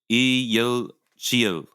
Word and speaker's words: 이열치열: 이열치열. 이열치열. Well, 이열치열. 치열. 열. 열. Yeah. 열. Is that what I'm saying? Yeah, and there's like a strong Y in there, so 이열치열.